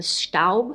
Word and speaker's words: Staub: this pan that I bought, which is the Staub, I think it's pronounced Staub, she assured me that this pan that I